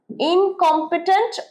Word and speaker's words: incompetent: Incompetent মানে অপদার্থ, incompetent অপদার্থ, উচ্চারণ incompetent, incompetent, incompetent, এই কমে জোরটা পড়ছে, incompetent, অপদার্থ।